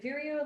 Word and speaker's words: Vireo: It's like Vireo, like Cheerio.